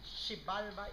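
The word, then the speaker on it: Xibalba: Shibalba is spelled with a X.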